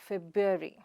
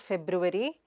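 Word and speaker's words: February: The next word is the second month of the year, which is also the month of love, that is feb-yoo-ary. It is not feb-ru-vary, but feb-yoo-ary.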